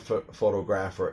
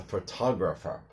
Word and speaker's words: photographer: It's not photographer, it's a photographer. See, it's faux, but again, the second syllable, now when it becomes four syllable, the TOG sound goes together.